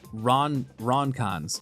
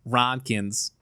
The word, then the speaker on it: Ronkans: How do I pronounce this? Ronkans. Oh god, I'm too Midwestern. Ronkins.